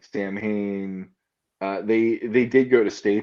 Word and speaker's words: Samhain: So you got a Boogeyman impression out of me, and talking about Sam Hain freaking Sam people Hain out. also, yeah. It's pronounced Yeah, Samhain.